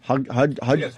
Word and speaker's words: Hudgens: Hudgens.